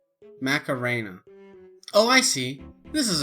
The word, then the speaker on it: Macarena: various playlists i switched to the mcnierra mcnairo mckinnera mckinnera how do you say that man macarena macarena oh i see this is appropriate listen son